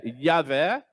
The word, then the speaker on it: Yahvé: Eu estou pronunciando como se pronuncia em hebraico mesmo, tá, irmãos? Porque o J em hebraico, aliás, essa letra nem existe no hebraico, tá? Ela tem o som de I, tá?